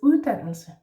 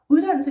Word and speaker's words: uddannelse: Uddannelse is a strange word because it actually has first a soft D and then right after that another D, which we do pronounce because it is a hard one.